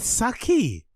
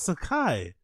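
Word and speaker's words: Sacai: Saki. Sakai. Saki. He says Saki Nike. It's Sakai.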